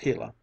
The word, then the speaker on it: Gila: When the hot sun shone down on the Gila monster, pronounced Gila, it was no longer tame and gentle, but